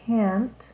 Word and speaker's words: can: positive can is fast like 10 and the negative can't is slow like can't so this is can can't can can't can can't the T is actually really hard to hear but the difference between the vowels that they sound is very different between those two words okay I want to